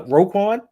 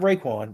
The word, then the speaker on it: Roquan: No, Roquan, not Raekwon.